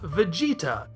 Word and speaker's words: Vegeta: And so it's easy to see that Bejiita is an approximation of Vegeta, vegetable with the end sliced off and a long vowel sound added in the middle.